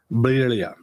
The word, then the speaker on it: birria: You got to have the rolling R. Birria.